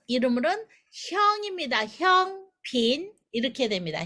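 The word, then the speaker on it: 香片: 한문으로는 향편. 그래서 발음이 형핀입니다. 형핀. 한문으로는 향편인데 광동어 발음은 이름으로는 형입니다. 형핀 이렇게 됩니다. 형핀.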